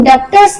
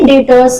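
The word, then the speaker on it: debtors: ठीक है, B silent हो जाता है, हम लोग डेप्टर्स नहीं कहेंगे इसे डेटर्स कहेंगे। तो मींस जिनको हम उधार सामान बेच रहे हैं अकाउंट्स की लैंग्वेज में उनको सन्ड्री डेटर्स कहेंगे।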